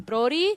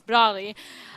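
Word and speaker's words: Broly: was a character again official pronunciation in Japanese is Brody something Rolly you guys can ii don't think it's right it's Brawley and they basically introduced a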